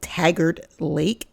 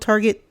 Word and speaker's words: Taggart Lake: called Taggart Lake it I kept calling it Target don't ask me why because I couldn't pronounce it at the time because it was just an add-on um Trail when I was at the Grand Tetons but it's called Taggart lake so let's get into